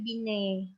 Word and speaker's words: Binet: Bukan Binet ya bacanya, tapi Binet. T-nya dihilangkan. Ya, mengukur intelijensi dengan menggunakan alat tes yang disebut dengan Sanford Binet Intelligence Scale.